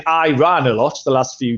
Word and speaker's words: Iran: off by all the Iranian journalists for saying I run so I was a political funny story so I was a political major uh political science major college and everyone pronounced it I ran in college like all the students but our